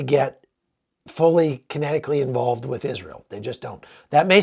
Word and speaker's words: Israel: Sr e a l it's not is real it's Israel think of that way Israel because about half the